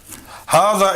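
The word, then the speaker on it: هذا: Hada is pronounced as it were written with an alif.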